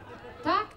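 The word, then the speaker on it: takk: Tak, tak, tak, tak, tak.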